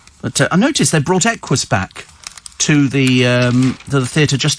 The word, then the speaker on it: Equus: Aquus. Equus. Fool, it's not Aquus, honestly.